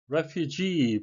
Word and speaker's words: refugee: refugee 발음에 유의하셔야 되겠는데요. 강세는 뒤에 있고 장음이 되겠습니다.